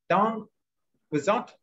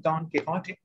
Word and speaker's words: Don Quixote: Don Quixote, that's the English pronunciation. Or the Spanish pronunciation, Don Quixote.